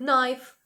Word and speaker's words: knife: це було сполучення зустріти в таких словах як Knife ніж або no liche знання to go бо